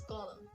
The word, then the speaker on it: column: in this word also we don't need to say goldman or something related to that because n is silent at the end of the world so you have to say it as gollum here we go towards